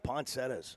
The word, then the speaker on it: poinsettia: call them poinsettias. Yeah. I always call them poinsettias. But I know the correct pronunciation's poinsettia.